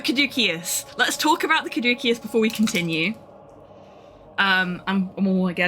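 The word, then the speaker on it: Caduceus: So, I thought it was Kaducius as well, but I have been following a classical on YouTube and she says Kadukius, so I am going to trust the expert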